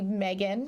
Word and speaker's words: M3GAN: night for the movie Megan yes which is spelled m3gan because it was like third model or whatever and I have to